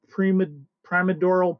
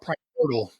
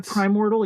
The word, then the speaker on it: primordial: I always keep mispronouncing it, but this was one of those episodes, and I'm bad at saying names and words, so I keep wondering if I'm mispronouncing it. Primodrial Plot, I guess. Yeah. So I call it Primordial. But... Yeah, Primordial. Yeah, maybe you're right. Primordial. Yeah, there you go. That sounds better.